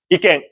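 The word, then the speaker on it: 意見: 이깽. 그리고 응이 맨 마지막에 왔을 때는 응 발음입니다. 입을 이깽 이 정도 발음하셔야 됩니다.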